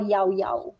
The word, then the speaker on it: Llao: Bukan lau. Bukan yau. It's yau.